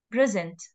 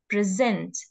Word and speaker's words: present: the letter for example when the stress is on the first letter so it it is a noun and it is pronounced as present okay but when it